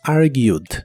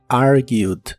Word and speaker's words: argued: discutir en el pasado es argued es similar a la forma del presente solo que ahora termina con e d y solo pronuncias la d are argued en el pasado lo puedes usar